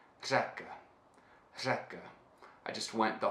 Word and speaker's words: řeka: word for river in the Czech which is zakah zakah Zeca I just went the whole day just